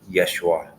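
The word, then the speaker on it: ישוע: by the way guys the way you pronounce Jesus in ancient Hebrew is Yeshua so if you're just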